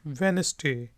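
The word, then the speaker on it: Wednesday: यहाँ पे ये जो डी है ये साइलेंट है, चुप है, यानी कि इसलिए हम इसको पढ़ते हैं वेनसडे।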